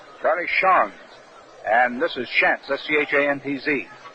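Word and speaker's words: Schanz: ago the difference between Shans of Boston and Shantz of Philadelphia. Shans of Boston spells his name S-C-H-A-N-Z, and it's pronounced as though there were a W in it. Charlie Shans.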